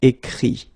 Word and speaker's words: écrit: Écrire, to write, will become écrit. Okay, remember that phonetically this final T doesn't exist. Okay, so the sound will be only this I, écrit.